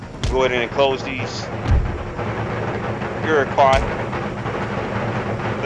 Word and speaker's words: Iroquois: on let's go go ahead and close these you're car is how you pronounce the aircock iroquois station would you call